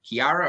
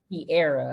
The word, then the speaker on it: Kearra: Okay, I'm so sorry, Kiara or Kiera? Kiera. A lot of people get Perfect. that confused. It's Kiera though.